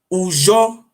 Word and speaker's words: Ujo: Ujo is 3 words how pronounce it. Ujo, U-J-O.